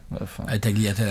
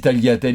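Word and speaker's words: tagliatelle: communitalienne avec les tagliatel puisquévidemment les G se prononcent ils sont absolument support on est en France ici he ouais je sais d'ailleurs la un Italien dès que je dis taliatel il dit tat taliatel ça fera des commentaires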